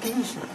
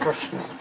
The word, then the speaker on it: Krishna: No, it's not Krishna. It's Krishna.